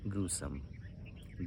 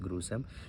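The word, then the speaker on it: gruesome: word है यहां पे ग्रूएसोमे डी वर्ल्ड इस pronounce ग्रोसर जी आर यू ए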